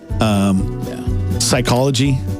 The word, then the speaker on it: psychology: Knife, Gnat, psychology. Yeah. Why is there a P?